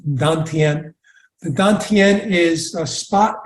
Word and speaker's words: Dantian: So I introduced the term Dantian, D-A-N, new word, T-I-E-N, pronounced Dantian.